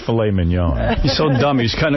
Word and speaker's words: filet mignon: How do you say it? Mignon? Filet mignon.